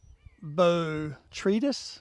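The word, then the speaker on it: Botrytis: of all powdery mildew B tretis I think that's how you pronounce it and also there's anthra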